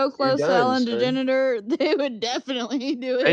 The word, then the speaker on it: DeGeneres: DeGeneres. They would definitely do They it. turned me out. I turn into Ella DeGeneres. Wait, what is her last name? It's not Degenerate. DeGeneres, but DeGeneres.